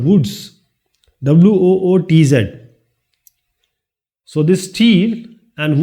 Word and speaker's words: wootz: a word, anglicized word, and that is called woods.